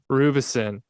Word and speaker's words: Roubison: saying the last name because i pronounced everybody's name wrong rubison there you go yeah you got it you got it all right our dear friend ryan rubison i'm sorry i i got scared there i